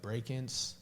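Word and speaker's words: Brakence: yeah yeah yeah breaking I think I should pronounce his name like break-ins it's like b-r-a-k-e-n-c-e actually I'm not too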